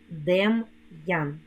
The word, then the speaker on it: Дем'ян: скоромовці ідеться про апостроф коли ми вимовляємо слова з апострофом то вимовляємо роздільну вимову твердого приголосного апостроф робить приголосний Який перед ним стоїть твердим лук Ян Мар ян Дем Ян ну а тепер потренуємося